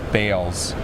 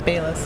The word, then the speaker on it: Bayless: that's like you saying my last name is bales right no it's bayless that's bayless yeah so thank you very